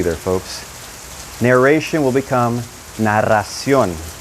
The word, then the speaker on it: narración: But when you pronounce it in Spanish, that double R is going to have a R sound, R.